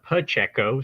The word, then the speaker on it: Pacheco: eye for talent uh it is a pacheco so you kind of pronounce it like a pu instead of a pa but uh yeah man